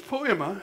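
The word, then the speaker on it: poiema: The Greek word is poema, P-O-E-I-M-A, I believe is the way it's spelled. But it's poema, and it's the word we get our word poem from.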